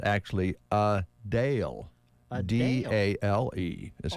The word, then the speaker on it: Adele: hot uh today yes is the start of a Dale's shows in Vegas you mean Adele no no okay all right she just explained recently that everybody's been pronouncing her name incorrectly oh really everybody says Adele yes like is in d-e-l-l yes she says